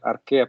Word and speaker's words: Archaea: En este caso sí se pronuncia Archaea porque va primero la E y luego la A.